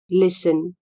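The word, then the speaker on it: listen: एस टी ई एन लिसन स्मा T silent हुंचा एल आई एस टी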